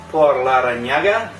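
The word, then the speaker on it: Por Larrañaga: Tonight we're going to be smoking a Por Larranaga.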